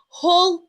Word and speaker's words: Hull: Hull Yes, I pronounce my H.